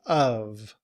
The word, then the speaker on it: of: So we say of. However, in reduced form, we often leave off the sound of the V.